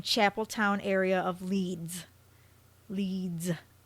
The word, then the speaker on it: Leeds: town area of Leeds leads I had to pronounce that cuz I don't want people think it's like leits or whatever walking past the nearby